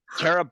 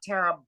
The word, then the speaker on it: Tara: I do this and you mispronounce my name it's Tera not Tara I'll never